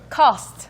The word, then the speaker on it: cost: 거죠 ke 하실 때 다시 한번 어떻게 한다고요 cost cost이지 스트가 아닙니다 물론 코스라고 우리말로 표기를 한다면 어쩔 수 없겠지만 스라고 발음을 해 버리시면 스까지 가버리면 이제 안이라는 뜻을